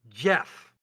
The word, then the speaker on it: Geoff: That's Jeff. Geoff is pronounced Jeff.